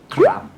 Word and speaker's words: ครับ: Actually, the right sound of kap is ครับ ครับ You can hear the r sound.